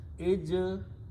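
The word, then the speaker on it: اجتث: Now, two sa are written there, so we can write down them with the tashdid or shadda like that. So it is pronounced as ijtassa. Ijtassa.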